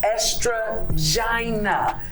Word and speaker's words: Estrogina: Not Estrogina, not all these other ones. Estrogina, as in estrogen and vagina.